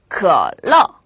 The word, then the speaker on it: 可乐: 可乐가 아니라 可乐, 可乐라고 발음하세요.